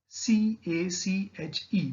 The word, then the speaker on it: cache: C-A-C-H-E, we specify, or we pronounce it as cache memory, which is the fastest of all the memory.